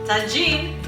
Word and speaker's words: tagine: Tagine in Moroccan, you pronounce it tagine.